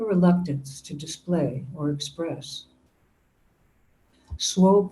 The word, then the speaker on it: Swope: to display or Express Swope rhymes with hope but the resemblance ends there Swope is a